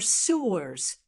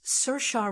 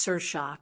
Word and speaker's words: Saoirse: say or see or sewers, you're definitely not alone. But the correct way to say it is Cersa Ronin. That's right. Cersea is pronounced Cersa, kind of like inertia with an S.